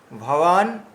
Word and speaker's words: ভবান: হচ্ছে এই যেমন দেখুন ভবান ভবান ওখানে যদি আমরা এমন উচ্চারণ করি ভবান বললে তাহলে ভুল হয়ে যাবে ভবান ভবান এভাবে উচ্চারণ করতে হবে ঠিক আছে ভবান ভীষমাসচা